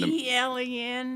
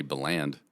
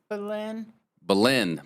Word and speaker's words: Belen: How do you say it? I would say you would say Beland. Belen. Belen, New Mexico.